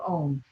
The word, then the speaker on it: Om: today the first sound ah' represents your normal waking consciousness ooh the second syllable your dreaming state of consciousness and mmm when you're in that deep dreamless sleep so let's use the three separate syllables of ohm as we chant three